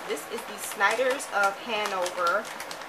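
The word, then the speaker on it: Hanover: is the sniders of Handover I said it right this time you guys I usually say hangover Handover bow TI crispy baked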